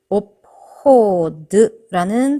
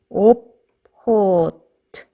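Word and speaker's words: obchod: 오포드라는 단어가 있어요. 가게라는 뜻인데 지금 뭐로 끝났죠? 드. 네, 유성음으로 끝났죠. 그럼 얘는 어떻게 발음을 해요? 드에 해당하는 무성음. 오포트 하고 발음을 끝내라는 거예요.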